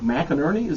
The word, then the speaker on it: McInerney: So I want to welcome to the studio Aaron Allen and McInerney. Am I pronouncing that right, Yes?